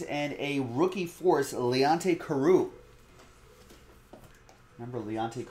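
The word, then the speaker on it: Carroo: a rookie force leonte karoo remember leonte carew i only remember because like his last name reminds rhymes with kangaroo i wonder if that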